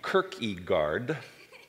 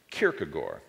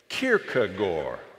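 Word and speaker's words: Kierkegaard: the first is pronunciation in english i know it looks like it ought to be kirkegaard but in danish it's pronounced kierkegore and i want to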